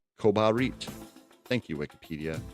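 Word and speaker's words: Kobarid: Oh, it's pronounced Kabarit here. Kobarit. Kobarit.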